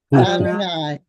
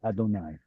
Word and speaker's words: Adonai: Adonai. Exactly. Exactly. The But Masoret said we can't pronounce it as Yod He Vav He. We'll pronounce it as Aleph Dalet. Aleph Dalet Nun Yod Adonai.